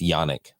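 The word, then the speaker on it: Janek: that I that okay it's with the J but it's actually pronounced yanic I believe I believe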